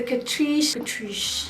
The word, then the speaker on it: Catrice: It's the Catrice, girl, it's bougie, you gotta say it like that. It's the Catrice HD Liquid Coverage Foundation.